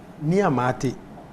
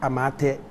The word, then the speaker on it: Nii Amart: Nii Amart, but some people pronounce it like Amate and all that.